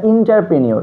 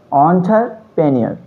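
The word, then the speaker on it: entrepreneur: অন্টারপ্রেনিয়র, অনেকেই বলে থাকে এটা ইন্টারপ্রেনিয়র, কিন্তু এটা সঠিক উচ্চারণ নয়। সঠিক উচ্চারণ হচ্ছে অন্টারপ্রেনিয়র, অন্টারপ্রেনিয়র।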